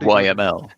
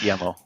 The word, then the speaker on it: YAML: I think YAML is don't call it YML. Yeah, I thought we were having a debate over which file extension to use. No, we are using YML, yeah, but it's pronounced YAML, surely.